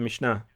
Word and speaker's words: Mishnah: I have a copy of the Mishnah. Is that how you pronounce it? Yeah, the Mishnah.